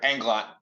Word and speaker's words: Englot: as our and and my can you pronounce your last name for me just to make sure I'm saying it right sure englot englot okay englot great thanks uh